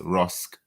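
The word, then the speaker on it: Roske: on to read the man identified as nicolas rosk r-o-s-k-e i helped her pronounce his surname correctly from los angeles was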